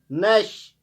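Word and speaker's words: gnash: नमूनिया, पी से start होता है, पी साइलेंट रहता है। नैश, PNASH, नैश, P silent रहता है, दांत चुबाना जिसे हम कहते हैं।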